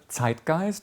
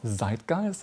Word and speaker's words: Zeitgeist: We are talking about the word zitgeist or zeitgeist as it is pronounced in English which spells zi t